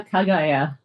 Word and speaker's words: Kagaya: Next up, Tokyo Kaigaya. Am I pronouncing that correctly? Yeah, Kagaya.